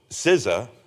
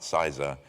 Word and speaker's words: CISA: you get lost um so sizza as we pronounce it is the uh not caesar not syza is the nation's risk advisor